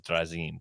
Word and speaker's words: Drazin: It originally, apparently what I've been told by like my great uncle, he's like, back in Yugoslavia, that's how it would be pronounced, as Drazin. But it sounds really pretentious. So I'm like, it's Drazin.